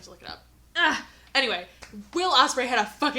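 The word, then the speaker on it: Will Ospreay: was the will Osprey not Matt Osprey will Osprey had the match with kosida I keep I keep getting his first name wrong it's will will Osprey will Osprey uh had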